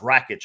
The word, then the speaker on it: Rakic: to be that and i believe it's pronounced wreckage actually so apologize for the